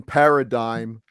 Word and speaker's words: paradigm: it's like excuse me you don't pronounce the G in Paradigm FYI dangum yeah it